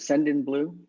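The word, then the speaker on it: Sendinblue: Send in Blue.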